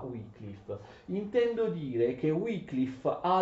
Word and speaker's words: Wycliffe: John Wycliffe, che non si pronuncia comunque John Wycliffe, non si pronuncia Wycliffe, si pronuncia Wycliffe.